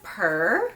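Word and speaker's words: Pehr: Next we have Purr. I believe that's how you say it, P-E-H-R.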